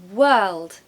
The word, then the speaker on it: world: point the beautiful world it's actually the same sound as in were if I were you for example were now you have that sound that's great you've got to add l d to it okay world world I